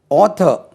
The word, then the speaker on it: author: ஆத்தர், ஆத்தர், AUTHOR, ஆத்தர். உச்சரிப்பு எப்படி? ஆத்தர். நம்ம ஆத்தர் சொல்லுவோம். இது ஓ, இதுக்கு ஃபனட்டிக் சிம்பிள்ஸ்லேயே நம்ம ஓ ஓ என்று உச்சரிப்போம்.